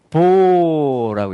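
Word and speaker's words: בא: 베트와 알렙이 합쳐지면, 자, 이걸 뭐라고 읽냐면 이제 보라고 읽습니다.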